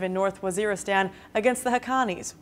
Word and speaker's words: Haqqanis: “Pakistan is under pressure from the US to launch a ground offensive in North Waziristan against the Haqqanis [Pronouncer: Hah - Con - Knees], which pose one of the deadliest threats to American forces inside Afghanistan.